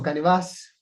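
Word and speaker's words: canevás: El término canevas o canevas, con acento en la A, viene del nombre de esto, de la tela del pintor, es decir, el canvas, ¿ok?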